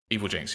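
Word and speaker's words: Evilginx: Evil Genics. Is that how how you actually pronounce it? Evil Jinx. Yeah. Evil Jinx.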